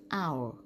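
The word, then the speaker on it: hour: ค่ะ อ่าน ว่า เอ้า อ้าว h o u l ตัว S ตัว นี้ จะ ไม่ ออก เสียง นะ คะ ไม่ ได้ ว่า เฮา How นะ คะ อ่าน ออก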